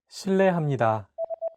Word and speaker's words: 실례합니다: 르, It sounds like a mixture between an R and an L sound. 르. 르. Altogether, it's 실례합니다.